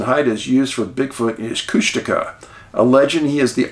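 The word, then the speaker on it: Kushtaka: the Tlingits and Haidas used for Bigfoot is Cushtika. A legend, he is the Otter Man. It is pronounced Cushtika.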